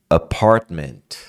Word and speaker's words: apartment: pronúncia tá então apart Cuidado para não falar a esse a ele não é aberto igual no português não é a apartment percebe muito quase não aparece n apang SS Whispers